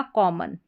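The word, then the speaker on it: common: तो ये बन गया कॉमन, कॉमन। ये जो ON लास्ट में, जो ON है ना लास्ट में, इस O को अ करके पढ़ा जाता है।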